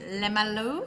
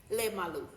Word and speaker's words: Lemalu: Today we have a special guest and that is Morin Lemlu. Is that how I pronounce your surname? Did I say it correctly? Lemalu.